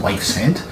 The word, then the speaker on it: Yves Head: And then there's Wives Head, which is spelled Yves head. So if that's Welsh or what, but apparently it's pronounced Wife's Head.